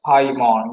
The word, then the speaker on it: Paimon: How's it pronounced? Paimon.